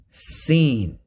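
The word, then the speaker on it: س: z next letter scene seen same as the letter z but with the sound of a whistle so the mahr sin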